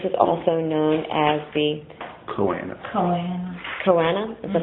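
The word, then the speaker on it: Choanae: plates, and this is also known as the Choana. Choana? Is that how you say it? Choana.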